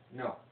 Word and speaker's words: know: It's a silent K that it's like I know things. It's that kind of no.